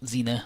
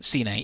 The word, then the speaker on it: Xian: And yeah, so her name is Xian. Not Xena or Cine. Yeah, that's how it would be pronounced Cine. Yeah, so I was doing it right.